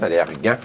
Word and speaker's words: Allergan: Valeant est beaucoup là, dans l'actualité par les temps qu'il faut parce qu'il tente depuis longtemps d'acheter de façon hostile Allergan, on prononce Allergan, voilà.